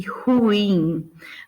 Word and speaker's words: ruim: E aí a gente tem alguns casos, só para ficar claro onde é a sílaba tônica. Então, filantropo, ibero, ínterim, libido, Lúcifer, misantropo, ômega, pudico, rubrica e ruim, né?